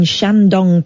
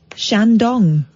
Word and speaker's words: Shandong: 8.7 million people in Shandong Province well don't say it like that you emphasize the word dong I know exactly what